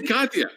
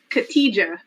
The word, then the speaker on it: Khadija: I say Katya. I just like Katya. It's okay. The J is silent in many languages, so it throws people off.